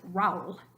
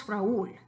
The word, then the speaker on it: Raúl: If there were no accent over the U, you'd pronounce it Raúl, which is hard to even say. Try that. Raúl. We know it's Raúl.